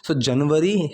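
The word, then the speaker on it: January: जनवरी हिंदी में हम बोल सकते हैं, लेकिन जब हम इंग्लिश में बोल रहे हैं ना, दैट इज़ जनवरी।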